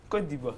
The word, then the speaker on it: Côte d'Ivoire: Et pas la côte. Non, pas la côte. Ou la côte. Non. Côte d'Ivoire. Donc, il faut savoir, je vous en prie, prononcer l'appellation de votre pays.